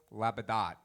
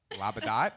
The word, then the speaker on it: Labadot: Legacy Foundation, Miss Labadot. Labadot? It used to be Labadot, but there's a lot of dumb people that live in Louisiana, so we have to pronounce it Labadot, right?